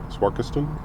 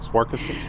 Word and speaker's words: Swarkestone: in Swarkestone? I'm glad you know how to say it. Swarkestone?